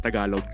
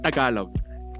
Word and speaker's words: Tagalog: stream to find out what's the proper pronun pronunciation of Tagalog. So, like, yeah, it's Tagalog.